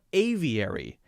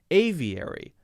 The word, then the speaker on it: aviary: How about aviary? Aviary. Same thing. Aviary, we also have a 6-letter word with 4 syllables.